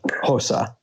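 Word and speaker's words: Xhosa: my best attempt and that is spelled x-h-o-s-a so hosa question number seven in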